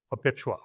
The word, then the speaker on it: Perpetua: the lead character in the night girl, Perpetua, am I pronouncing it correct? Yes. Perpetua.